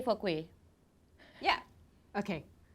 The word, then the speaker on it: kueh: K for kueh, Yeah.